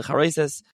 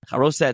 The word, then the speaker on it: Charoses: We're talking about right before Pesach, where everyone comes to the Seder and you eat the Charoses or Charoset, however you want to pronounce it.